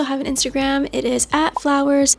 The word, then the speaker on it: FVLWRS: It is @flowers. It's spelled FVLWRS.